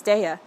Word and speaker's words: Daiya: think it I think I recently learned it's daya it's like one of